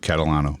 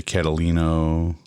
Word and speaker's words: Catalano: it's Catalano right yep Catalano but people screw it up how do you screw up that it's it's spelled it's pronounced the way it's spelled yeah some will say catalino k Catalano and it